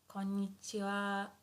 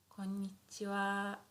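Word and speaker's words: こんにちは: Konnichiwa. konnichiwa, konnichiwa. Good evening would be konbanwa, konbanwa, konbanwa. So although here this is hiragana ha, ha, but sometimes we pronounce it as wa, wa.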